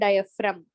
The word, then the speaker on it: diaphragm: It's called diaphragm. G is silent.